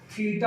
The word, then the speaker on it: थीटा: तो angle represent करने का एक सिंबल है जिसको हम लोग थीटा पढ़ते हैं।